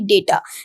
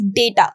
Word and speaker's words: data: Now the pronunciation of this word is data, not data. Some of you must have pronounced this word as data. That is incorrect. The pronunciation of this particular word is data.